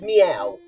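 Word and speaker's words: Myau: Um Mayu, now it's pronounced meow.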